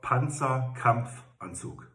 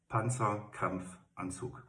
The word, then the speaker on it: Panzerkampfanzug: It's short for Panzerkampfanzug. Panzerkampfanzug.